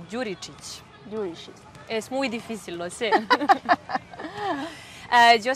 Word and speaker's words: Đuričić: De dónde eres primero mi nombre se pronuncia como y apellido yuritics es muy difícil hacer